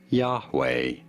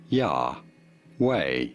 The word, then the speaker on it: Yahweh: about pronouncing its name yahweh yeah way you do want to stress on the first syllable yahweh did you get it